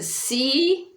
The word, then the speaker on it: psi: And it makes like a PS sound, like the English word lips. So it'd be psi.